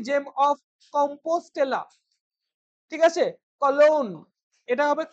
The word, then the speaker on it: Cologne: বুলোন কিন্তু হবে এটার প্রোনাউন্সিয়েশন, বোঝা গেল, ইম্পর্টেন্ট প্রোনাউন্সিয়েশন মনে রাখবে। এসটি জেম অফ কম্পোস্টেলা, ঠিক আছে, কলোন, এটা হবে কলোন, COLOGNE, কলোন, showing her worldly experience and devotion,